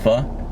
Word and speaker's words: pho: Pho? But it's pronounced pho.